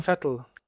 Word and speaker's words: Vettel: gemerkt, weil der Vettel ist einer, der kann, spricht man denn so aus wie ein Rennfahrer? Mache ich das richtig? Pax und Vettel. Vettel, okay.